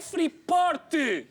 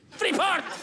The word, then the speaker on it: Freeport: T guarda sempre, esconde, não digas o T. Enfim, parece impossível que um político que tanto se tem batido pelo ensino do inglês não seja capaz de pronunciar corretamente uma palavra inglesa. É freort. Freeport.